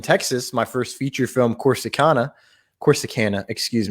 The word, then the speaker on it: Corsicana: i know how to say it of course corsicana of course i can't corsicana honey you say